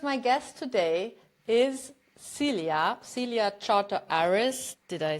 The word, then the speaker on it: Celia Chartres-Aris: about that because my guest today is Celia Celia Charter Aris did I say it right yes you did